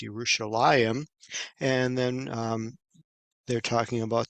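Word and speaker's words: ירושלים: of understanding that like the word Jerusalem in Hebrew there is no J so they have a a y sound so it's yerushalayim and then they're talking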